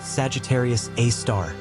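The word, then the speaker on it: Sagittarius A*: In the very center of that void lies Sagittarius a asterisk, pronounced Sagittarius A star.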